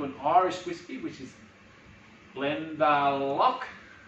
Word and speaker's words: Glendalough: It's not, it's Irish pronunciation, Glendalough.